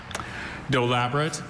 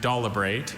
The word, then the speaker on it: dolabrate: Dolabrate and dolabrate are the 2 pronunciations.